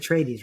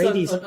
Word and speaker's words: Atreides: Is that how you say it, Atreides, right?